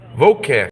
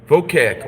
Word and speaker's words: Vocac: Vocac. I am. How do you say that? Oh, you said it right. Vocac.